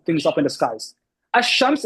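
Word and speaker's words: الشمس: Ash-Shams is, you pronounce it with the sh. Ash-Shams, you don't hear the alif lam.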